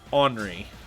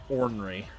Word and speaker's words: ornery: But we say it ornery, not ornery.